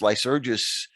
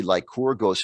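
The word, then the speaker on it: Lycurgus: uh or lycora ghost lice urges uh is the more common english pronunciation and spelling you'll see like corgos in the mcinerney text which is more authentically greek and it's not entirely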